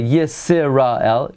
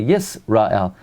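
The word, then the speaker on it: ישראל: And it's sort of silent. We don't pronounce it. We don't say Yisrael. We say Yisrael.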